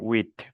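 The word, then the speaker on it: huit: On prononce le T final, 8.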